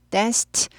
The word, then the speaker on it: danced: danced. 오 얘도 트 발음이에요. danced 하죠. 스가 무성음이잖아요. 그럼 트 무성음이 됩니다.